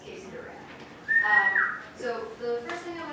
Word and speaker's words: Duran: I appreciate that you go with Duran because it is not spelled like the band, but it is said like the band. It's Casey Duran.